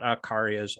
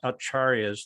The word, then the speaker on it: acharyas: it's not arca it's c is always pronounced ch usually in sanskrit like the vaishnav acharyas not akarias acharyas like viva goswami and